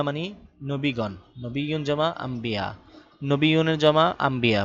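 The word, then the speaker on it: أنبياء: আনবিয়া আনবিয়া আমরা এখানে পড়বো আম্বিয়া নুনকে মিম উচ্চারণ করবো আম্বিয়া আম্বিয়া মানে হলো নবী আম্বিয়া মানে নবী গণ নবীন জমা আম্বিয়া নবীনের জমা আম্বিয়া বা নবী এর নবী আম্বিয়া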